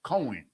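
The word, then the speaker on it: כֹּהֵן: They pronounce it Cohen.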